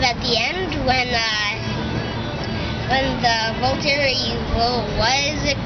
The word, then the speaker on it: Volturi: Well, sort of, kind of at the end when the Volturi, what is it called again? I can't really pronounce their name. The Volturi, you're saying it right. The Volturi.